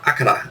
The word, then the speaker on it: Akira: to late 80s uh you know movies like Akira or akara that's how it's pronounced uh came out in uh 88 I